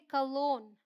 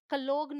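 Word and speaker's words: cologne: ये है नार्ल, ये है नार्ली, ये है नोम, असाइन, बिनाइन, कैंपेन, शैम्पेन, इसे बोलते हैं कलोन, ऑल राइट। कलोग्न नहीं बोलते, कलोन।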